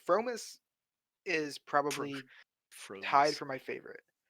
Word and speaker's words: fromis: Promise? Fromis. Fromis. Fromis. Dude, read How do you Like say it, Yoli. bro? Fromis. It's from Promise. Fromis. It's like promise, but Fromis.